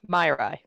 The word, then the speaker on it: Myrai: It's just easier if you call me Myrai. Myrai. That's the first part. That's not Myrai. Easier. Myrai. My, and then rye, like Myrai.